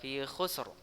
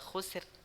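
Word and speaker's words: خسر: Ya Ina Lini sanalah khusro Bacanya jangan dibaca Kusir salah ya khusyuk oke thayeb resep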